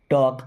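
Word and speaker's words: talk: will helping verb है टॉक अब इस वर्ड में एल साइलेंट होता है ना ही विल बी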